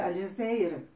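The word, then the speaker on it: الجزائر: Los franceses lo conquistaron, le llamaron Algerie, porque no podían pronunciar Al-Jazeer, que es el verdadero nombre del país.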